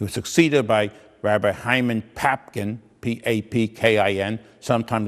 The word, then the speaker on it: Papkin: After he left and went to other communities, he was succeeded by Rabbi Hyman Papkin, P-A-P-K-I-N. Sometimes it's spelled Popkin, like in Jewish, P-O-P-K-I-N.